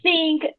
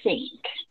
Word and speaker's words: think: Pero en el inglés es diferente la pronunciación. La TH suena diferente. Suena, es que es un sonido, bueno, distinto que nuestra lengua. Entonces escuchen cómo yo lo pronuncio. Think. Suena muy suave, la T no suena duro como nuestro lenguaje, que suena ta, sino es un sonido más suave.